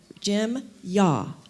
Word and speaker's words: Yeaw: And I just learned that I've been saying his name wrong, so I'm going to say Jim Yeaw.